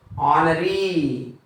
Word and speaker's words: honoree: Next, here also we have H silent. Honoree.